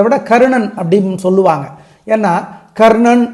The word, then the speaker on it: கர்ணன்: கர்ணன் அப்படின்னு சொல்லுவாங்க ஏன்னா கர்ணன் அப்படின்னா கர் கருக்கு அடுத்த நா வந்து மூணு சுழி நா மூணு சுழி நா வந்து நாக்கு பின்னாடி போய் தொட்டு உச்சரிக்கணும் அது கொஞ்சம் சிரமமா இருக்கும்